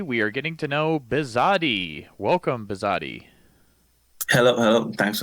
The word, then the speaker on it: Bisade: are getting to know bizat welcome bizat hello hello thanks for having me and I'm saying your name correctly right bizat yeah okay and that's spelled b